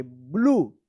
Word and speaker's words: blue: यहाँ पे यू का उ उच्चारण हो रहा है और ई जो है ना साइलेंट है, ब्लू।